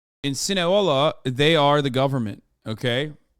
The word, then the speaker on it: Sinaloa: You said Sinahola? No, I didn't. I don't even know how to. Those Sinahola? I don't think I've ever said that. You said it wrong once, and chat can't shut the fuck up. You did once, but every other time you've been right.